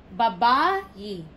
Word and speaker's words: babayi: The stress is in the second syllable. 1, 2. Ba-ba-yi.